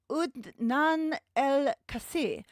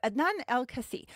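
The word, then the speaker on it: Adnan Al-Kaissie: were managed there by Adnan El-Kassi. Oh no. Adnan El-Kassi. I wrote that out phonetically to try and help me, and then I ended up just fucking it up. So Adnan Al-Kasi, who y'all might remember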